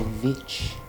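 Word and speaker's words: The VVitch: Is it pronounced witch or vitch? Vitch. I think the 2 V's was like something to sort of stand out a bit.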